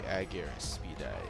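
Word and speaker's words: Argyraspides: Here are the Aegir Speedeyes. That's how you pronounce it.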